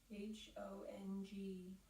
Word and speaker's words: Hong: as your body chooses to inhale silently repeat h o n g h or I am and as your body